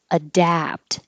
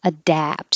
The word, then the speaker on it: adapt: 15 and 16 are very similar, but 15 is adapt, and the vowel is like hat, adapt.